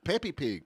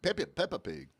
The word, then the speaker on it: Peppa Pig: Peppy Pig. Peppy Pig, am I saying it right? I think it says Peppa. Peppa the Pig. Peppa Pig.